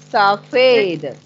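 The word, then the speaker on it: सफ़ेद: Where your tongue is touching, Adi? Between the gums and the teeth. I don't know how to explain it. No. Saw. Your tongue is touching the lower part of your dental.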